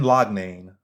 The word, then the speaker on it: Loughnane: Brenda let me say his name right Brendan lodnain versus Bubba Jenkins so Brendan laudnain versus Bubba Jenkins now I see someone right